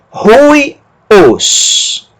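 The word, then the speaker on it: υἱός: Rui, como se tivesse um R na frente. Rui, depois ômicron sigma, os. Rui, os.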